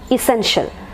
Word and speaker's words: essential: so it is e sen shell essential that is the first